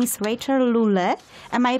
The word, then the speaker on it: Rachael Lule: Her name is Rachel Lule. Am I pronouncing this correct?